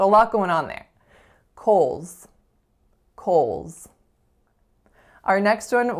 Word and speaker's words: Kohl's: next up we have Kohl's Kohl's this one's actually kind of tricky so it's spelled Koh L apostrophe s but we actually only have four sounds in this word so the first consonant